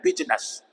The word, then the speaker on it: business: तो बीजीनेस था इसलिए बिज रह गया, और आई जब बना तो आई की साउंड साइलेंट कर दी गई, और ये नेस है, बिजनेस भी बोल सकते हैं हम इसको। और वैसे एक्चुअल में अब कहें तो एक्चुअल प्रोनाउंसिएशन की क्या है, बिजनेस है, बिजनेस।